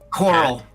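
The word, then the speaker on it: Coeurl: How do I pronounce this thing? C-O-E-U-R-L? Coral.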